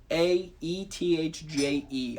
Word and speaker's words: Gaethje: Gaethje? I would love to see that fight. That dude is incredible. That dude coach actually wants him to fight next. It's Gaethje.